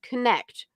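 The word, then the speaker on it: Konnect: join together to form connect pronounced connect but spelled with a Kaa of Karen Andrea and April a coaching company with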